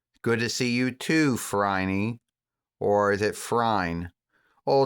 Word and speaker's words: Phryne: Good to see you too, Phryne. Or is it Phryne? Oh, the name is said Phryne, but it's spelled Phryne.